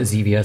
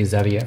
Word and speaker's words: Zevia: zevia i should say i usually i pronounce it xevia some people say zevia for some reason but xevia like stevia and that's that i